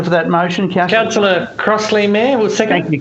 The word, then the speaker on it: Crossley: Crossley.